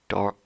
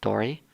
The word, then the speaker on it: Dorl: Last stream you mispronounced my character Dorl with an L at the end as Dory.